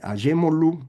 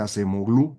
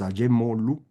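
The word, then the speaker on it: Acemoğlu: Son Acemoglu, así se pronuncia, usted lo va a leer Acemoglu, es turco, el nombre correcto es Acemoglu, Robinson y Johnson.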